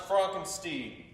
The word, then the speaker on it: Frankenstein: My name is pronounced Frankenstein.